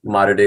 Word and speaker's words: Mater Dei: I think Mater Dei is the correct pronunciation. It took a while to go from Maitre D.